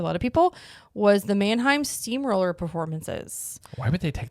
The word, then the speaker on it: Mannheim Steamroller: So I think of myself as Dwight listening to Mannheimer Steamroll. Mannheimer? Why do I say it wrong? Mannheim Steamroller. Mannheim Steamroller.